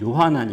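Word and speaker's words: יוחנן: 세례 요한도 아니고 예수님의 제자 요한도 아닙니다네이 히브리어로 발음하면 요하난 있데 요한나는 당시에 어 흔한 이름이었습니다 이스라엘 사람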